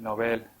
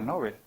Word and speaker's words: Nobel: Es otra cosa que aprendí, que yo decía Nobel, pero lo busqué en el diccionario de la lengua española y hay que decirlo con la pronunciación sueca. Nobel, no Nobel.